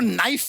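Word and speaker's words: knife: सलमान जी आपको नाइफ word मालूम है नाइफ। उसमें शुरुआत में जो के होता है वो क्या है? साइलेंट आप भी रहिए।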